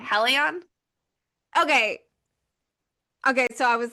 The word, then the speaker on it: Helion: I just want to make sure I'm pronouncing it correctly. Helion?